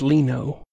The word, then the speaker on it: Lino: I believe it's Lino. I was going to play it off like I knew, but no, I was wrong. I believe at some point in the past, Lino said rhymes with Dino.